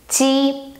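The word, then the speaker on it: 鸡: For example, if you want to say chicken, the animal chicken, you say ji first tone, ji.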